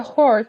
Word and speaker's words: horde: The horde presses in, the yelling grows louder. Actually, let me try to find if I'm actually pronouncing this right or not. Horde. Yeah, there definitely is H there, so yeah.